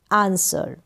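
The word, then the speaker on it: answer: mean होता है उत्तर यहां पर जो आंसर है इसमें यह जो डब्लू होगा वह साइलेंट होगा इसका यहां पर प्रोनंसिएशन नहीं होगा एग्री क्या है एग्री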